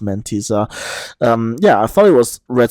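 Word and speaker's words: Mentissa: I think I said in the last episode it was Red Sebastian versus Montisa, or Mentisa. Turns out it is actually pronounced Mentisa.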